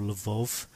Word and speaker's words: Lviv: to the West Ukraine, places like Lviv or Lvov, It's pronounced differently according to whether you're Russian or Ukrainian.